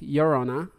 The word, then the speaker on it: Llorona: Dande also said, being in southwest region of the U.S., the most popular is the crying woman, or the Llorona, which is pronounced Llorona, a ghost of a